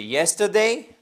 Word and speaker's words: yesterday: Comme c'est hier, c'est yesterday. D'ailleurs, voyez ici, vous avez l'apostrophe qui nous indique que cette syllabe derrière, elle est accentuée yesterday et pas yesterday. Non, yesterday. Exactly.